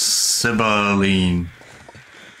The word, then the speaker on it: Sibylline: Pronounced Sibylline.